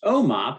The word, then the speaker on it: OMOP: principal investigator of the observational medical outcomes partnership pronounced omop which is the data model used in the